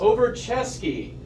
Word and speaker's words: Ovruchesky: your last name clark it's uh it's russian it's over chess case over chesky so clark over chesky